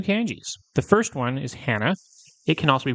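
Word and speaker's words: 花: The first one is hana. It can also be pronounced ka, and it means flower.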